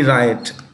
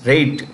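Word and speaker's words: Raitt: is Bo anyway this is Bonnie b-o-n-n-i-e Bonnie riot Bonnie right singer writer Bonnie riot no no it's rate Bonnie rate I'm so sorry hey you know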